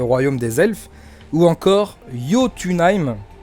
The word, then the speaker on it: Jotunheim: des elfes, ou encore Jotunheim, ça s'écrit avec un J, mais je crois que le J se prononce Y, donc Jotunheim, le royaume des géants.